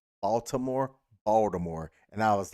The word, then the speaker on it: Baltimore: game yesterday that pronounced Baltimore, and I was like, that's somebody that's from the area that know what's up. You know what's up. Like, we don't say that T. That T is pointless.